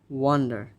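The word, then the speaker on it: wonder: এরপরে যেটা সেটা হচ্ছে এটা, দিস ইজ নট ওয়ান্ডার, এই ওটা মূলত এখানে উচ্চারণ হচ্ছে আ, সো ওয়ান্ডার, ওয়ান্ডার, ওয়ান্ডার, নট ওয়ান্ডার, this is ওয়ান্ডার।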